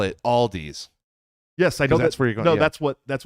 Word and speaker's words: Aldi: uh alies Aldi it's Aldi it's Aldi there is no s at the end of it it's Aldi nobody I